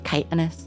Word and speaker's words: chitinous: mirrors of sky uh i've heard it both ways shittiness or kiteness i think it's technically chitin so it's chitinous but i don't think